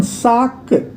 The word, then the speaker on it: sac: Then sac is bag. See, last में हमारा C है, so हम इसको प्रोनाउंस कर रहे हैं.